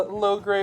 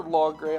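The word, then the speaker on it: Logray: chicago toy show now we have a low gray or long gray i've heard it pronounced both ways always pronounced it low gray he's in a pretty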